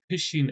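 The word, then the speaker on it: phishing: It's pronounced fishing as though you're fishing for uh uh you know fishing on a boat and stuff, but uh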